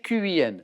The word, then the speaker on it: Qin: Ah, mais je dis 3 fois oui parce que l'empereur Qin me suffisait. D'accord. Ça s'écrit Q-I-N.